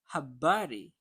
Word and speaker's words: habari: The word habari. We stress the word the syllable bar.